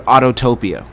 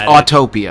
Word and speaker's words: Autopia: when they refer to Autotopia. Oh, yeah. It's Autopia. Yeah, they've added a syllable that doesn't exist.